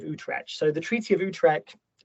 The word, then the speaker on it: Utrecht: So the Treaty of Utrecht, how do you pronounce it, Thomas?